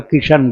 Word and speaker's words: कृष्ण: अब आप देखिए एक जैसे तो बोलते नहीं और यहां हम कृष्ण बोल रहे हैं। तो कृष्ण बोलते हैं। गुजरात में कृष्ण कृष्ण बोलते हैं। और पंजाब में किशन पंजाब में किशन बोलते हैं।